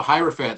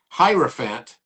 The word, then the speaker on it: hierophant: written on the Whiteboard hierophant because it rhymes with elephant as well he' written